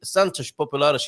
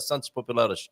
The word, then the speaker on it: Santos Populares: Santos Populares is how it's pronounced, right? Santos Populares. Santos Populares. Yeah. And I'm hearing that as an A. It is, of course, an O, and that is our